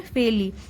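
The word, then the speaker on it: fairly: तो यहाँ पे आर साइलेंट होता है, इसे पढ़ेंगे फेयरली। तो जो ग्रैनी थी उसने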